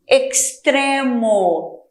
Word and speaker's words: extremo: Assim, extremo. Então, a pronúncia antes de consoante é de KS.